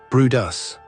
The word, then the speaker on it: Bryde's: The sound was probably produced by Bryde's whales, pronounced "Broo-dus".